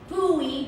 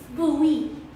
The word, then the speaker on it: Bowie: a place called maryland my sister said it's bowie but it's spelled like bone like david bowie but it's pronounced bowie but before i lose i have a confession